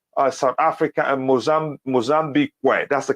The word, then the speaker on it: Mozambique: again in between uh South Africa and mozam Mozambique way that's the correct way to pronounce it and Mozambique we're off front of